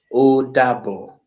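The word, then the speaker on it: Ó dàbọ̀: So, can I say now, In- Odabo?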